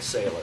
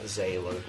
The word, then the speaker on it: Zähller: salt yeah actually it's pronounced like sailor so it's a sailor see I've been telling everybody your name and everybody says that anyway sailor yeah zailor is that why the